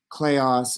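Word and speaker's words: kleos: to introduce you to are arte clayos and temi that's how you pronounce those things right and let's imagine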